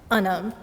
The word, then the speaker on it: Anum: The A in my name, however, is from the Arabic letter alif, and it's commonly pronounced Anum.